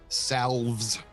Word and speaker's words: salves: And he's going to apply various salves. And as you do, he kind of whimpers. It's a silent L, don't say that.